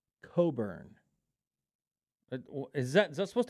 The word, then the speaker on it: Cockburn: Coburn Coburn what lions regardless of how that's spelled it is pronounced Coburn is that is that